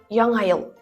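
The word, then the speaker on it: Яңа ел: Когда носители произносят это слово быстро, оно звучит как ял. Ял. Если медленнее, я ел. Яна - это новый, ел - это год. Обратите внимание на произношение звука. Это точно не звук не, поэтому сказать яна будет не совсем верно. Всё же говорим как ял.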